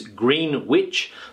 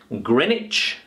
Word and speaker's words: Greenwich: think that it is green witch but it's not the case this word is pronounced Grenich Grenich Grenich Grenich okay this sound here is a CH sound Grenich not green witch